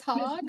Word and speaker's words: Hogg: it for me miss hogg are you on the line hi i'm here hi my name is miss hogg and yes it is pronounced hog a lot of people